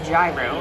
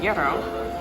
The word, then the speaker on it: gyro: So it is not a gyro, it is a gyro.